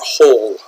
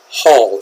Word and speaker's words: Hall: how it's pronounced it's Hall it's been aa sound like a concert hall or City Hall okay so just be